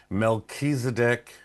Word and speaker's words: Melchizedek: Mechisedc being is that how you pronounce it?